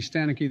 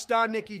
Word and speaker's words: Stanicki: Still though, I saw Ricky Stanicki the other day and it was all right.